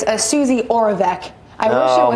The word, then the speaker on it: Suzi Oravec: Suzi Oravec.